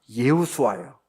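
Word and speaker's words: ישוע: 예수님의 이름의 뜻이 뭐냐면 원래 히브리 어로는 여호수아 혹은 원래 발음대로 하면 예수아 여호수아 그런데 바벨론에가 유대인들이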